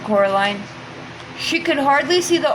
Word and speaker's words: Coraline: They got your name wrong, you know. They kept saying Coraline, not Caroline. Not Caroline at all."